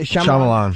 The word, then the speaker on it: Shyamalan: Shyamalan.